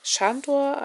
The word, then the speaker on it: Sandor: Das ist ein großer Abendsiedler, dessen besonderes Kennzeichen dieses linke abgeknickte Ohr ist, namens Schandor, also das S wird wie Sch ausgesprochen. Um was geht es in diesem Buch?